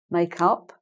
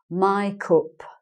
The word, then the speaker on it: makeup: face you're using makeup they pronounce it my cup my cup okay so it's like my my cup i'm going to buy some my cup instead of i'm going to buy some makeup okay so that's just